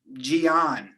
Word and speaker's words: Gian: an identity crisis is because of my name jion my mom cut the name short from giancarlo